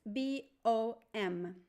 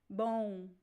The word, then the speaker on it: bom: B it's a Nas so the M only works to make the vowel o nasal in this word there is no M sound this is good sometimes